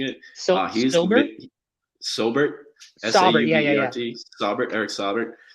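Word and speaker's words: Saubert: Broncos backup tight end Eric Sobert, I think is how I'm pronouncing it. He's Sobert.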